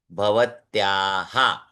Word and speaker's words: भवत्याः: है, स्त्रीलिंग के लिए भवत्याः। अब देखिए, भवत्याः में पीछे विसर्ग है, और उसके आगे भवत्या, या है, इसलिए याहा, अह आहा इस प्रकार से उच्चारण करते हैं।